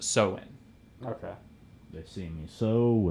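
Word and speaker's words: Samhain: they called it um sohin so sohin it's it's it's spelled funny so it's s-a-m-h-a-i-n but it's pronounced so in okay they see me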